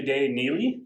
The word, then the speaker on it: Dey Neele: and her name is day jay the lovely day neely that's how you pronounce it the day neely from the kiachi